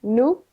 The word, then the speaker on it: no: Just remember that N-O, Yep. it's pronounced nu, Okay.